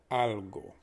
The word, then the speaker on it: algo: you remember the pronunciation the a is pronounced ah just like ah that hurt because the o is pronounced a bit softer it's pronounced o instead of o remember that so we have algo please repeat after me